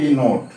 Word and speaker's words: knot: NOT नोट, KNOT नोट। NOT नोट का अर्थ हुआ नहीं। KNOT नोट का अर्थ होता है, यहाँ के साइलेंट है, KNOT नोट का होता है गांठ।